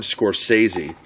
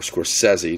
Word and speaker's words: Scorsese: Got a great introduction by Martin Scorsese, or Scorsese, depending on how you want to pronounce his name.